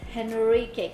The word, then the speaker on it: Henrique: It's Henrique. Is it like but hen, like the the- Durban person had to pronounce.